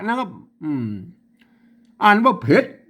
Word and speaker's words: เผ็ด: ส่วน สูง พระ นะ ครับ อืม อ่าน ว่า เผ็ด ๆ ๆ นะ ครับ แหม่ อัน ว่า เพลง